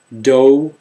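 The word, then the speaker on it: dough: so with an ew do and though last two have silent GH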